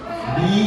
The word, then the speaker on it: the: Perhatikan, kata the kalau setelahnya diawali huruf konsonan, huruf vokal, itu dibacanya bukan the, tapi bacanya di.